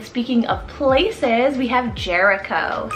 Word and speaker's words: Jericho: means village then speaking of places we have jericho spell r j-e-r-i c h o jericho and